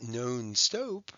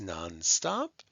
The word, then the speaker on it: non-stop: and they're short o's it's not known stope right it's non-stop and that makes them closed syllables okay and yes if